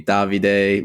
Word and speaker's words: Davide: he just used to call me davide which is how you pronounce my name and then he started